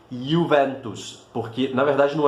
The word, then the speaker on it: Juventus: uma palavra latina, e em latim a letra J, na maior parte dos casos, vai ter sempre esse som de I. Então, nunca digam Juventus, a pronúncia correta seria Juventus, certo?